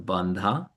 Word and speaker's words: Bandha: Jalandar Bandha B A N D H A.